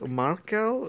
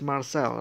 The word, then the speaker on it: Marcel: Markel? No, it's Marcel, right? Anyway, Marcel was fine with it. I mean, to be honest, if you're from a certain country, C is sometimes pronounced as K, right? So, Markel or Markel is Marcel, right?